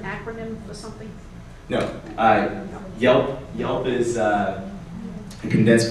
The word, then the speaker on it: Yelp: for something no I Yelp Yelp is uh a condensed version of Yellow Pages oh Yellow Pages okay yeah and uh it also rhymes with help so I can't get